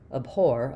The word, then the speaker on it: abhor: But because we're stressing on the or abhore abhore, it's going to keep its or clear or sound.